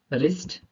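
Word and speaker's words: wrist: होता है आर के पहले अगर डब्लू आ जाए तो वो साइलेंट रहेगा वो शब्द साइलेंट रहेगा कैसे रहेगा रंग राइट रप रपर रिस्ट अब यहां पर लास्ट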